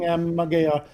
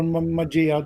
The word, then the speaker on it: Mageia: And also the distribution that I'm using, Mageia, or Mageia, depending on your pronunciation.